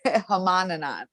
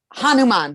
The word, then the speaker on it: Hanuman: wait it's no it's h Craig you no Honan okay what does Honan stand for what is this story he uh he is he represents uh courage uh Hanuman that's it I always say it wrong hanuma